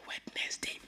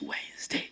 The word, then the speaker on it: Wednesday: But if you can correct him, if somebody that is close to you, just tell him, Oga, it is not Wednesday, it is Wednesday.